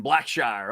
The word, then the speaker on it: Blackshire: It's properly pronounced Kendrick Black Shire. Okay. It is the more formal pronunciation, Black Shire.